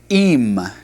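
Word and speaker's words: עם: The word from is pronounced mean. Mean. The word with, such as being with beings, is im.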